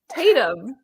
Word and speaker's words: Tatum: how do you pronounce his name? Tatum.